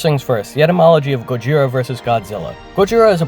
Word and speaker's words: Gojira: Gojira is pronounced as Gojira in Japanese.